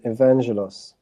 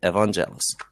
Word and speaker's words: Evangelos: How do you pronounce your name? Evangelos. That's exactly how you say it, Evangelos. You said it correctly.